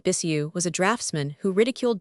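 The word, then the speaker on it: Bixiou: Bixio pronounced it Bissu was a draftsman who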